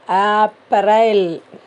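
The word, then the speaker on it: अप्रैल: அதே போல் இங்கிலீஷில் ஏப்ரல், அதை நம்ம எப்படி ப்ரொனவுன்ஸ் பண்ணணும்னா ஹிந்தியில் ஆ போடணும். ஆப்ரைல், ஆப்ரைல் அப்படி சொல்லணும்.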